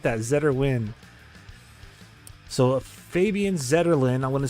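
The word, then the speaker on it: Zetterlund: social media account and they asked him how to say his name in his native language right and it's Fabian zeton so Fabian zeton gets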